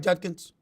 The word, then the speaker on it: Judkins: Did I pronounce his name right? Judkins.